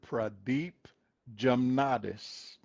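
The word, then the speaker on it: Pradeep Jamnadas: I can't pronounce pra- his name either. Dr. Pradeep Jamnatis.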